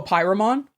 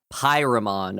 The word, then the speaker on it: Pyramon: Oh, Pyramon? Pyramon. Okay. Just like Pokemon.